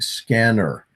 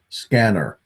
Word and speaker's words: SCENAR: We pronounce the device name like scanner.